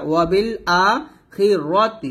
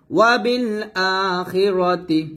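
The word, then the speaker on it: وَبِالْآخِرَةِ: র তা জের তি ওয়া বিল আখিরাতি খি রা বলবেন না র বলবেন দেখেন বাংলাটা ওয়া বিল আখিরাতি র হবে ওয়া বিল আখিরাতি হা মিম পেশ হুম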